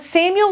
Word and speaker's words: Samuel: Oh, Samuel! I mean, Samu-el. Uh, why didn't you say it like that? Oh, because the ‘el’ on the end means God.